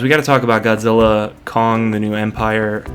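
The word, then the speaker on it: Godzilla x Kong: The New Empire: But aside from the Cavs, we got to talk about Godzilla, Kong, the New Empire. You don't pronounce the X, apparently. Apparently that's silent.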